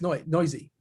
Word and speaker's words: Noyes: Is that how we pronounce it? Noise? Noise. It's either noise or noisy. I think it's noisy. Okay. Pretty sure it's noisy.